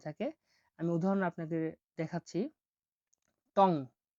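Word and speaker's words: tong: পরবর্তী শব্দটি হলো এনজি, এনজি কে ইয় হিসেবে উচ্চারণ করে থাকে, ইয়, বাংলা অক্ষর ইয়র মতো, উঁর মতো উচ্চারণ হয়ে থাকে। আমি উদাহরণ আপনাকে দেখাচ্ছি, টং, টং, ত আর উ, টং, টং মানে হলো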